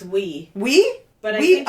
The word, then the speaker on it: oui: oui, and J A, It's we. We? But I think it's spelled oui oui MY MIDWEST WEE WEE.